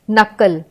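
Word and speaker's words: knuckle: का उच्चारण इसमें आ रहा है नाइफ नॉक नकल एल जैसे कि आर्म्स बाम पी साइलेंट है इसमें सके साइकेट्रिस्ट तो हमने पी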